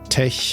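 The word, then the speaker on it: TeX: Insiders pronounce the X of tech as a Greek chi, not as an X, so that tech rhymes with the word blech.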